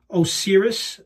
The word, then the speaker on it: Osiris: It's called the Osiris base. I believe I'm pronouncing that correctly.